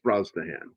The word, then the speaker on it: Brosnahan: A lot of people, they look at her name and they don't know how to pronounce that name. It's Brosnahan.